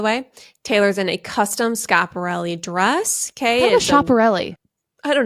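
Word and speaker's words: Schiaparelli: for this episode and some man from pronunciation. org said it's in Italian you pronounce it scapi so anyway okay I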